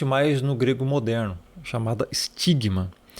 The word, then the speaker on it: stigma: no grego moderno, chamada stigma. E essa letra aqui, ela não tem som de S, nem de C e nem de T. Ela era uma junção. Ela tinha um som de st junto.